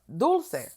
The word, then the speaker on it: Dulcé: It's pronounced Dulce. Yeah, like dulce de leche ice cream is what I was thinking.